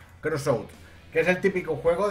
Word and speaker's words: Crossout: El juego se llama Crossbound, creo que es que se dice. Crossout.